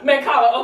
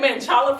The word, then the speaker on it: Mancala: Mancala. Okay, see, I say Manchala for some reason.